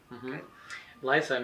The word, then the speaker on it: Lifyme: Yes, this is Lifime, right? Lifyme, as you can see it, it's spelled L I Y. Um, life is it means life in your food.